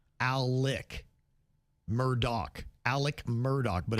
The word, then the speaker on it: Alex Murdaugh: And the first name is tricky because it's spelled A L E X, but he pronounces it Alec. Murdock.